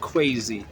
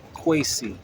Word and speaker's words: Kwesi: All right, not crazy, Kwesi.